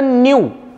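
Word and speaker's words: μ: पुढे units of म याच प्रोनन्सिएशन म एमय ग्रीक लेटर म हे असत न्यू बरोबर आहे ना म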